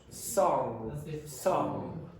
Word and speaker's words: song: Song singer song. And some of you also have problems with that with the nasalization of the vowel before it.